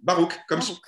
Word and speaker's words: Baruch: Baruch, comme Spinoza. Ah, zut, c'est comme Spinoza.